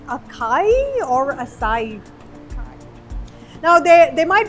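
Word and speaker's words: açaí: So to help me out with that, I'm joined by the founder, Ayman, of Projecto Acai. Acai, that's what it's called. Thank you. I could have sworn I would have pronounced it as acai.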